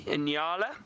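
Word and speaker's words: nyala: those are called enala very funny name it's spelled n y a l a enala and they are really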